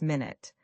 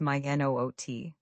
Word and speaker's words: minute: The word minute has two pronunciations depending on meaning. When we talk about time, it's minute. When we mean something tiny, it's my n o t. Say both with me. Minute for time, minute for tiny.